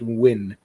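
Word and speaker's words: Nguyen: uh nfl dude uh says it's pronounced win new one or like dustin win okay we'll go with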